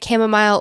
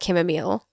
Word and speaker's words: chamomile: regular toile chamomile you I feel as though you can say camomile or chamomile this is going to